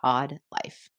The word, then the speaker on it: AWED: Hi, I want to welcome you to the Odd Life Podcast. That's spelled AWED, which stands for Awake, Well, and Empowered.